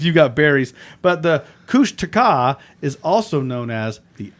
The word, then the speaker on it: Kushtaka: while now it's back cush no sorry kushtaka kushtaka yeah kushtaka that's how they pronounce it I'm sorry Kush